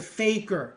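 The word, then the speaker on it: fakir: And what the four ways are, the first way is the way of the faker and that's spelled f a k i r.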